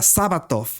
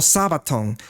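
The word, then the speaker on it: σάββατον: Y es esta, Sabatov o Sabaton. Como está viendo aquí, esos son los símbolos en griego como se usan, y su pronunciación Sabaton o Sabatov, que dice aquí de origen hebreo 7676.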